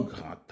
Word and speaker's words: grand: un petit ami un grand homme remarquez que grand s'écrit ici avec D à la fin mais dans les liaisons dans la liaison il est prononcé comme s'il était en T avec N un ami